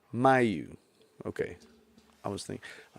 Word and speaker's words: Miu: want read well so how do you say your last name my you my you okay I was thinking